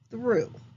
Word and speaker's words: through: I say the word through. The end of the word does not play fair. The middle letters of the word are OU, but I hear OO. I don't hear a long O sound.